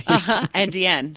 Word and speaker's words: NDN: NDN. So you're like, it's pronounced the same. It's a homophone, but it is not actually Indian.